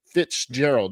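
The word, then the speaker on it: Fitz-Gerald: Basically, we want to keep an eye on, and that's Devin Fitzgerald. Now, Fitzgerald is spelled with a hyphen, so it's Fitz Gerald.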